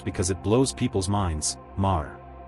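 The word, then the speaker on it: Meagher: Mar. In America, you'll commonly hear me, like the word meager. But in Irish usage, this name is famously pronounced like Mar. Yes. March like Mars without the s.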